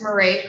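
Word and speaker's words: Mairead: My name is Marie. Marie.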